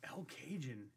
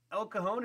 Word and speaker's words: El Cajon: We're like, El Cajun? Like, El Cajon? He's like, I'm by El Cajun and Jamaica. It's like, that's El Cajon and Hamishaw. So, yeah, it was just local pronunciation.